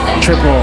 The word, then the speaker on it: Tripel: so what we call a trapeze it's actually pronounced triple triple oh okay okay double this double and okay